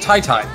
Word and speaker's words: qyty: we've been told that apparently qyty his name is pronounced Tai Tai which my brain I